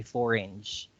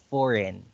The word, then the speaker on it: foreign: foreign because you say four inch okay foreign uh it's not why you said four inch because it's hammer energy it's silent g orange okay um going